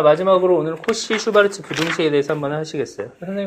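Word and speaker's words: Schwarz: 슈베르트라고 읽었네. 슈바르츠 부등식.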